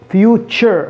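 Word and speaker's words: future: التي مع اليو ينطق تش تش، يعني مثل كلمة فيو تش تش، هي تشبه السي اتش، فيو تش فيوتشر المستقبل، فيوتشر فيوتشر.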